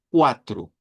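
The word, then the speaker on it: quatro: dijera, mire esto, pues hágalo sonar como que fuera una C, ve, una u, una a, una t, una r y una u. Esa u del final si es bien importante. Vea, cuatro.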